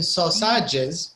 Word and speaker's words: sausages: you can see that the letter a before the g here it's very tricky because it's written sausages but we don't say the a it's like it's uh it's an i it's like it's a short eye so uh so you have to imagine it's not an a sausages imagine it's an eye right so uh okay